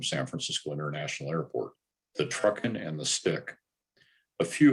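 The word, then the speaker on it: TRUKN: five letters for example the spelling of the tr ukn departure is pronounced truckin the stars on the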